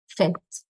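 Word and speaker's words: faites: write o z it's o s and it's pronounced fet fet so you stop here fet in your pronunciation and the third person plural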